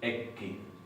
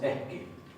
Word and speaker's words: ekki: Por ejemplo, en la palabra eski tenemos una doble K, pero no pronunciamos ekki como si fuera en noruego. Pronunciamos eski.